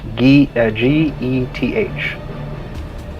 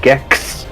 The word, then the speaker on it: Geth: G-E-T-H. Wait, what? This whole time? Yeah. Yeah, G-E-T-H. It's Geth, not Gex.